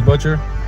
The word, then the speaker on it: Butcher: Hello guys, my name is Butcher In Japan, everyone calls me Butcha because Japanese can't pronounce the ER.